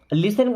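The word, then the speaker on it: listen: दिखाओ लिसन टू मी देखिए अब यहां पे टी साइलेंट होता है ना लिसन का मतलब क्या होता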